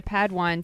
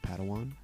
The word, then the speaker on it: Padawan: Master Yoda assigned a Padwan to this bold Jedi. It's pronounced Padawan.